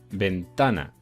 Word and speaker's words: ventana: como por ejemplo ventana yo digo ventana y como digo ventana está es la sílaba tónica está en penúltimo lugar si no sería decir ventana o ventana y no se dice ni ventana y ventana se dice ventana vale está sílaba tónica